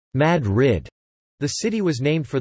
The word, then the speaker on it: Madrid: Madrid, although pronounced Madrid, the city was named for the capital of Spain.